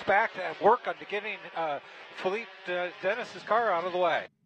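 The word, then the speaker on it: Philippe Denis: I know you wanted to use that fantastic French pronunciation, but it's actually Philippe Dennis.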